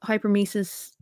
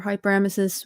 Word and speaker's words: hyperemesis: either I can't concentrate or it's just I just so I have something called hypermesis or hyperemesis, whichever you choose to pronounce it.